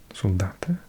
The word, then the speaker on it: soldat: Soldate. What do you do? Pronounce the T.